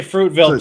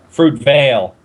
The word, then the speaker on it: Fruitvale: Fruitville Fruitville fruit van yeah I always say Fruitville too but it's not pronounced Fruitville it's uh fruit Veil Veil fruit Veil broil bro yeah bro like